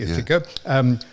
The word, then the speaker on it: Ithaca: Now that I've pronounced it correctly, Ithaca.